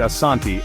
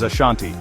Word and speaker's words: Asante: In the 16th century, Europeans who visited Ghana, then known as the Gold Coast, mispronounced the word Asanti as Ashanti.